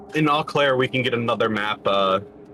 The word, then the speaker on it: Eau Claire: Is it Eau Claire or Eau Claire? Oh, Claire. AU, right? Well, it's EAU, but basically you can just pronounce it with a hard O.